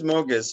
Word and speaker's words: Moges: So your nickname is like Moges or Moges. How do you pronounce it? It's just it is Moges, but there's always a